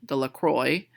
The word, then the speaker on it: Delacroix: Harry Jones and Dicky Delacroix the villagers pronounced her name Delacroix eventually made a great